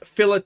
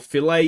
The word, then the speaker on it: Filet: one I'm excited about Elias fillet or filet if you want to pronounce it correctly uh he is a